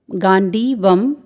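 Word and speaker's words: गाण्डीवम्: यहाँ पर आप गांडीवम में ग में दीर्घ स्वर देख रहे हैं, फिर अर्धवर्ण ण है, फिर ड में दीर्घ स्वर है, फिर व में अनुस्वार है। तो इसका उच्चारण होगा गांडीवम।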